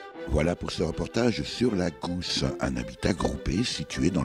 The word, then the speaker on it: La G'House: écrivez à la Gousse, ça s'écrit L-A-G-H-O-U-S-E comme G-House, donc la Gousse.